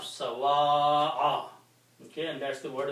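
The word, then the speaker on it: سَوَاءَ: Okay, so this final word will have the pronunciation of sawa'a.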